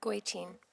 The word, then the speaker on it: Goitein: Goitein.